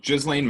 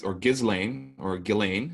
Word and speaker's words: Ghislaine: But let's get into the topic of Epstein and Ghislaine Maxwell now, because that seems to be the,